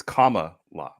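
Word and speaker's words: Kamala: like a hybrid between how I'm supposed to say it it's comma law I know you've said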